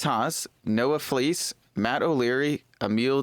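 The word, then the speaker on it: Emilie: noah fleece matt o'leary emil d ravine i think that's how you say her name it's emily or emil i think it's just emily okay fine it's emily emily t ravine i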